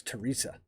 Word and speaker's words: Theresa: you say that um so i should know that it's teresa jacob steinmen's first bowman